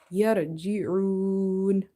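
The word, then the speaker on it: يرجعون: yarji'un. This ra is heavy here because if ra is having sukun and before it if you see fatha or dhamma you make it heavy.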